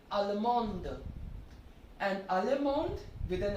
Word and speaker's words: Allemande: To make it feminine, add an E, and then the D will be pronounced. So it will be Allemande.